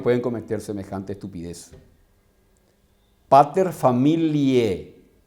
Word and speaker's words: familiae: Pater familiae, y se escribe familiae, y la AE se lee como E en la pronunciación.